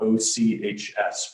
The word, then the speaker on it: Ochs: My last name is spelled O-C-H-S, but it's pronounced Ochs.